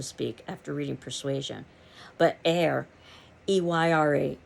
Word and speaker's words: Eyre: after reading persuasion but air eyra is pronounced just like an air h-e-i-r and she is the